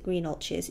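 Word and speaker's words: Greenhalgh's: Um even in the expensive pie shop which is um greenches but it's not spelled green orches. It's spelled green halls but everyone calls it green ultes.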